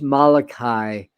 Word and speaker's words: Malachi: So it's pronounced Malachi, Michael Malachi.